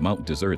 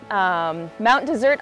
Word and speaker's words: Mount Desert: Mount Desert Island or Mount Desert Island, it's spelled like desert. But if you come to Maine, you don't have to spend too long here to know it's not hot and dry like a desert.